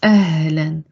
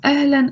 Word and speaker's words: ahlan: When you say ahlan, in English, you are pronouncing the N. In Arabic, you're not placing the N at all. So you're saying ahlan, hello, or welcome, ahlan, ahlan.